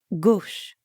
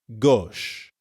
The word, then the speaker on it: gauche: Gauche. It's kind of like the English word gosh, but with the O sound from story. Gauche.